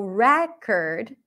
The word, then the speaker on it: record: noun and a verb when it's a noun I bought a new record the primary stress is